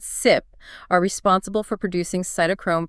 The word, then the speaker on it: CYP: The CYP genes, we pronounce it SIP, are responsible for producing cytochrome P450 enzymes.